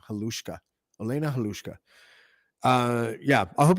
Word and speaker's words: Halushka: Halushka.